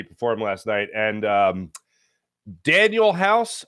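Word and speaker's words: Danuel House: last night and um Daniel house I believe is how Doc River says it Danielle house is how it's uh pronounced on the old uh NBA reference or uh pro basketball reference whatever uh but he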